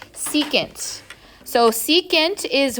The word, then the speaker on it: secant: Okay, the shorthand for secant when we're writing it in an equation is SEC, but don't say sec, it is secant.